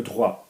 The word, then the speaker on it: droit: Droit, droit, okay, is right, as in human rights, or law, if you're studying law, le droit.